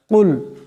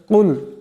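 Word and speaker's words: قل: শুদ্ধ হয়ে যাবে ইনশাআল্লাহ কুল এখানে বড় কাফ আছে আওয়াজটি গলা থেকে আনতে হবে কুল কুল এমন করে আউজু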